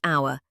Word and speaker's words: hour: We say hour, so the H is silent, that's a vowel sound.